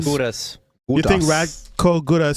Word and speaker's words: Gudas: Gudas.